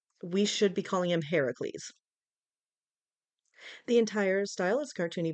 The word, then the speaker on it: Heracles: I will call Hercules Heracles as that is the Greek pronunciation of his name when the Romans came